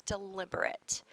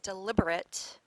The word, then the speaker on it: deliberate: Our next word is deliberate. Now, this is the same spelling, a different pronunciation and different meaning than deliberate. So in this case, deliberate is an adjective.